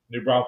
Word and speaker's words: New Braunfels: New Braunfels Canyon.